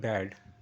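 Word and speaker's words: bad: ড good short করে দিচ্ছি ব্যাড যখন বলবো ব্যা ড ব্যাড এটা স্ট্রেচ করছি এই স্ট্রেচিং এ আর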